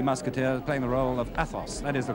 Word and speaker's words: Athos: in the three musketeers playing the role of Athos that is the correct pronunciation isn't good I used to change it